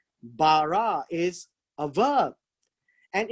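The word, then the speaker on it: ברא: 1:1 is this word here and it is pronounced as bara bara is a verb and it's an action word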